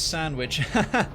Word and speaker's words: sandwich: My favourite quirk is how the fuck you pronounce sandwich. You drop the D, basically. All about dropping that D.